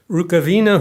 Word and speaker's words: Rukavina: Steve Rukavina, who's president of the National Federation of Croatian Americans, who tells me his name is properly pronounced Rukavina, so I'll mention that.